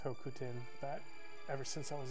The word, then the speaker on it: Hokuten: And by the way, I know it's pronounced Hokuten, but ever since I was a child, I pronounced it Hakuten.